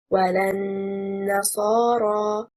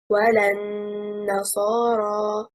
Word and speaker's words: وَلَا النَّصَارَى: The corresponding verse, the correct performance, وَلَا النَّصَارَى, and not وَلَا النَّصَارَى.